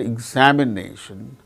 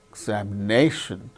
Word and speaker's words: examination: particular syllable that's why in the word examination examination nay the syllable name is marked with primary accent that is before and above the syllable and exa so that second syllable is marked secondary accent that means below and before before and below the syllable similarly international international internee